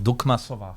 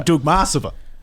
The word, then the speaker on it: Dukmasova: I believe the correct Russian pronunciation would be Dukmasova. Yes, Dukmasova. It's actually Dukmasova.